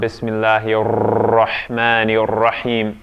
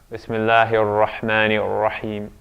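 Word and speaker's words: بسم الله الرحمن الرحيم: Even though in Arabic, I mean, when you're pronouncing Quranic Arabic in the best way, you wouldn't be rolling the R's. It's not Bismillahir Rahmanir Rahim. No. Bismillahir Rahmanir Rahim.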